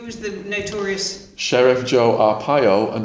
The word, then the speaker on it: Arpaio: And then who was the notorious Sheriff Joe Arpaio, and Arpaio is spelled Arpiao.